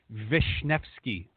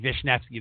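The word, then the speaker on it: Wiśniewski: n I WS ki there's not even a V or an F or nothing but that's how you pronounce it so everybody goes with new ski she's like Vishnevsky like wow yeah yeah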